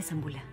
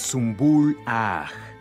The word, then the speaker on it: Zumbul Agh: Es posible, Zambula. Que Alá me otorgue paciencia. Ni siquiera puedes pronunciar mi nombre. ¿Cómo quieres convertirte en sultana? Es Zumbul Agh.